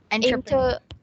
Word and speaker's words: entrepreneur: Entrepreneur. Inter entrepreneurs. Okay, say entrepreneur. Entrepreneur. Okay. It's really hard to. Okay, let's do it slowly. It's not enter, it's entre.